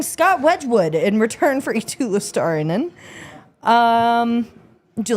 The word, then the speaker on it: Eetu Luostarinen: The Florida Panthers are getting Scott Wedgwood in return for Eetu Luostarinen.